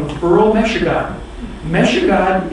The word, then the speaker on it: Michigan: Meshugan is the proper pronunciation of what Europeans mispronounce as Michigan.